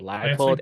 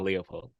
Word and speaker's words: Leipold: Because I've heard Leipold and Leopold. Leopold? Yeah. That's why I think it's one of those where you can say either.